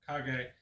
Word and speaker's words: Kage: So that is how you say Legend of Kag.